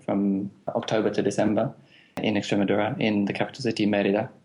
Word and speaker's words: Extremadura: it so badly in Spanish it would be extremadura we could say in English as radura if